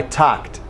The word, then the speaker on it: talked: if it were Spanish remember in talk or talk the L has no sound okay do not pronounce the L I talked talked no L to plan my vacation